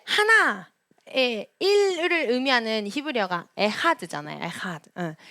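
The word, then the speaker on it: אחד: 근데 저희는 이 에하드가 약간 키읔히읗 발음이라고도 이제 알려지니까 저희가 초창기엔 어떻게 발음했냐면 에카드 이렇게 발음을 했어요. 그래서 이제 이스라엘 가가지고 에카드 이렇게 하니까 가선 쌤이 저희한테 에카드가 뭐야? 에하드라고 발음하는 거야. 에하드라고 발음하는 거야. 에카드 아니야라고 이제 저희를 이거 되게 뭐라고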